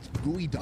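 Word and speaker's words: geoduck: First off, it's pronounced gooey duck at all.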